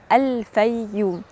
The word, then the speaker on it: الفيوم: من 44 مليون سنه اتحرف اسمها في العصر اليوناني الروماني ل بايوم وبعد كده مع دخول القبطيه مصر اتحرف اسمها من بايوم لفوم لان كانت ال ب بتتنطق ف وبعد دخول العرب مصر حرفوها اكتر وحطوا الالف واللام وبقت وبقت وبقت الفييوم النهارده هاخدك جوله سحيه